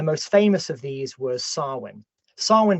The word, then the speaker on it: Samhain: famous of these were swin swin by the way if you're listening to this isn't spout how how it sounds it's spelled s a m ha a i n so if you want